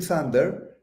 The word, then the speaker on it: Sander: the Y and sander did I say that right that's right no s at the end so I'm I'm proud